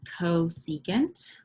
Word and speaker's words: cosecant: will notice this one CSC the way we pronounce that is cosecant and cosecant is the